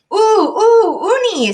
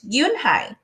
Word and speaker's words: Unhei: Uni, some kids chanted. No, Yun-hae corrected. It's spelled Unhei. It's pronounced Yun-hae. Oh, it's Yuhei, the boy said.